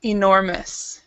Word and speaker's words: enormous: En enormous problem so so the first syllable is actually pronoun is actually uh a stress it's enormous okay and then the next